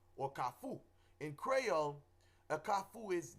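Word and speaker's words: kafou: you know um I had an experience with calfu or kafu in Creole a kafu is the uh word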